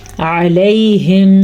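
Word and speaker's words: عليهم: علیہم صیحۃ, علیہم, عین الف نہیں ہے یہ, ایسا نہ آپ اس کو علیہم پڑھیں تو پھر تو آپ اپنے ہاتھوں سے قرآن مجید کو غلط پڑھ رہے ہیں, لفظوں کو بدل کے پڑھیں.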